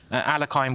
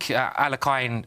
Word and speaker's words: Alekhine: Yeah, I think Alekhine, and again, I'm saying the English pronunciation.